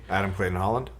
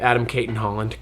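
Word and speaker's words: Adam Cayton-Holland: I got Adam Clayton Holland. Yep. Adam Caitton Holland. Clayton is the uh Adam Clayton is the YouTube guy, but it's Kaitton Holland.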